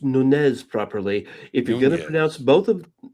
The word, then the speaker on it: Nunez: You pronounced Nunez properly.